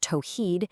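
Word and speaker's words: tawhid: And this core concept is called tawhed. That's pronounced tohed. It is the central belief in Islam.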